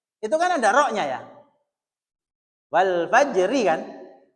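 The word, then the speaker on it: والفجر: Nah, anak saya itu masih kadang rnya hilang. Wal fajr faj fajr. Jadi rnya hilang sampai jim toh. Itu lidahnya langsung kerok. Tapi enggak usah diucapkan. Wal fajr ini lidahnya langsung kerok supaya enggak hilang hurufnya.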